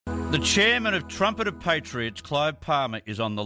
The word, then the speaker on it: Trumpet of Patriots: Well, you've got your pronunciation has to be right. It's Trumpet of Patriots, right? It's just like Mrs. Bucket on the movie. She says bouquet.